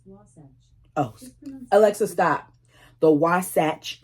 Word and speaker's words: Wasatch: Pronunciation of Wasatch can vary, but it is often pronounced Wasatch.